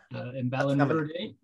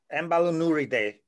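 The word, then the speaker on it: Emballonuridae: Emballurinidae, the sheath-tailed bats is the common name. Can you say that word again? Emballurinidae.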